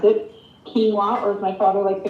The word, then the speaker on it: quinoa: mix phyllo or phyllo depending on how you pronounce it quinoa or my father likes to call it quinoa